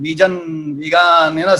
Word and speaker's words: vegan: Many people think that it is vegan, wagon, vegan, vegan. So I've heard as many pronunciations of the word as people have met, but it is V for victory and gun. Yeah? Banduk wala gun, vegan and veganism. So that's how the word is pronounced.